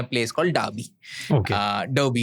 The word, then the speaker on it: Derby: जगह का नाम है डाबी jail. डाबी jail. डार्बी, DERBY, बट डार्बी jail. British pronunciation में उसको डाबी कहते हैं। डाबी। हाँ। हम लोग इंडिया में डर्बी कहेंगे उसको।